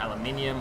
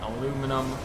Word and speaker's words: aluminum: you got carbon F you got aluminium or aluminum however you want to pronounce it um I say aluminium because it kind of same way how I pronounce it in Dutch cuz I'm from Belgium